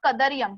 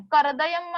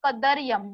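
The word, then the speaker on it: कदर्यम्: उसका प्रोनाउंसिएशन अच्छे से देखो, कदरियम, करदयम मत बोलना, कदरियम, द के बाद र, कदरियम.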